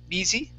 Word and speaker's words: busy: Short I sound instead of be busy, busy.